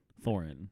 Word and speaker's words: Thorin: Thorin. It's a Thorin, yeah. Okay, yeah, Thorin. Okay, good. Yeah, I don't pronounce things right.